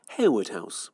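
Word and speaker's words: Harewood House: now on Harwood house will be pronounced as it's spelled hawood house James Kelly has the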